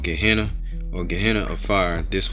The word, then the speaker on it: Gehenna: Gehenna. So that's how it's pronounced, Gehenna.